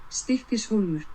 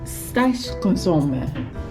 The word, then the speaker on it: Stykkishólmur: So it's time for Google Translate to save my pronunciation once again. Stykkishólmur.